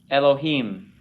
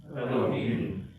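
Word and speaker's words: אלהים: Repeat after me. Elohim. Elohim.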